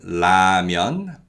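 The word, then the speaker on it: 라면: and other sounds nearby lil is like the l sound when it's used in the word initial position so in this word la myan la'amian which means ramyan or nuru lir is used in the word initial as in the first syllable of the word so we pronounce it like the l sound with the tongue are just behind the upper front teeth so it's on the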